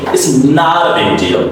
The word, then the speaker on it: it's not a big deal: It's not a big deal. T is D sound because before T there's a vowel and after T there's another vowel. There's an article vowel.